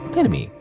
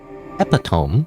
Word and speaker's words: epitome: Epitomy, not epitome, by the way. Epitomy, that's how you pronounce that.